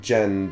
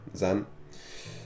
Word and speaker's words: Zen: your name is Zen it's pronounced more like Jen than Zen oh my fault Jen Jen but most people have determined it to mispronounce your name since elementary school I'll join them Zen so at some point